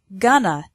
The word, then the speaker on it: going to: future for example I'm going to spend more time with my family I'm not going to work so much in spoken English going to is often pronounced gonna I'm gonna spend more